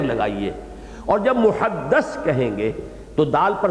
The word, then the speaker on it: محدث: کے ساتھ سمجھ لیجئے۔ محدث دال کے زیر کے ساتھ، وہ تو وہ علماء ہیں کہ جو علم حدیث کے ماہر ہیں، محدثین، فقہاء و محدثین، دال کی زیر لگائیے۔ اور جب محدث کہیں گے تو دال